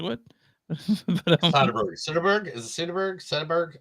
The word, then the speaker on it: Soderbergh: Is it Soderbergh? How do you say it? There's Steven Spielberg and there's Steven Soderbergh, and they're two different people. Steven Soderbergh.